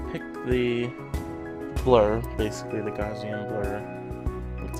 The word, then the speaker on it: Gaussian: It has you pick the blur, basically the Gaussian blur. That's how you pronounce that.